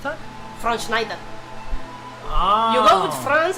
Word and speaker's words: Schwarzenegger: How did you pronounce that? Schwarzenegger.